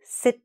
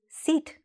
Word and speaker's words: sit: Please sit down. Okay? If you didn't say sit properly, it might sound like please seat down.